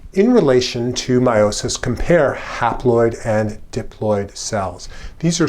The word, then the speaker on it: haploid: And the half number of chromosomes kind of rhymes with the word half, or it begins with the same prefix. It's called haploid.